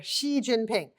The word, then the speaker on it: Xi Jinping: Oftentimes they say it like a Z, like G or Zhu. It's just like S-H-E, like the female pronoun.